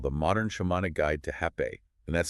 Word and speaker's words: rapé: We are unpacking a comprehensive text by Lauren and Liana called The Modern Shamanic Guide to Rapé, and that's spelled R-A-P-E with an accent, pronounced Ha-P-I.